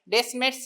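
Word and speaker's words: Descemet: ডেসমেন মেমব্রেনের পরের structure ডেসমেস membrane মানে টিটা সাইলেন্ট থাকবে।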